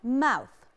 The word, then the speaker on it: mouth: لازم لما يكون عندي TH أقول mouth وأطلع لساني سنة لبره. لو قلتها mouse أنا غيرت معنى الكلمة تماما من بق لفار، فلازم أنطق صح.